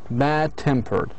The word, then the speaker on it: bad-tempered: Okay, bad-tempered. Although we have here adjectivals, however, the stress should be put on the second part.